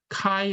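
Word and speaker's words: χ: 섹스를 흘려 쓴 것처럼 이것은 카이 라고 읽어요 카인 그리스 문자로 그것의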